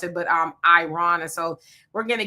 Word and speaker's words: Iran: I've been saying Iran and I was told it's Iran. So, I'm going to try to uh uh be correct in how I pronounce it, but um Iran and so we're going to get in all